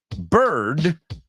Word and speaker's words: bird: menend meita she says beard rhymes with weird correct bird rhymes with herd correct bear with pair very good and then